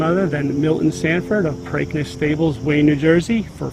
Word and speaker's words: Preakness: It's Preakness. Just like replace the P with a B, break, Preakness.